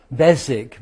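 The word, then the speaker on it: Beswick: Then the third one was that strange pronunciation where the W is silent. Basic.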